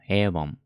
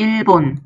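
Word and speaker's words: 일본: は a ウォンエイボンですねいう本エイボンですねメモカ発音確認しましょう avon エイボン avon エイボン avon エイボンが日本です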